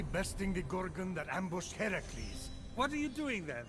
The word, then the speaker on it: Heracles: Phoenix after boldly besting the Gorgon that ambushed Heracles what are you doing there that thing with your voice Heracles yeah that that is how it's supposed to be pronounced seems like a lot of work but